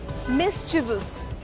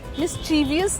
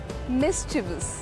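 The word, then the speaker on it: mischievous: बट the word is एम आई एस सी एच आई ई वी ओ यू एस मिसिवस। मिसवियस नहीं है इसकी pronunciation. It's मिसिवस।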